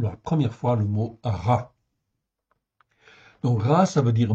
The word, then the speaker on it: רע: là sous les yeux rche Aï ça se prononce RA en fait ici c'est un adjectif qui existe